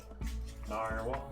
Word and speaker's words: narwhal: All right, let's let's bring this Nar How's that pronounced? Bob. No. Narwhal.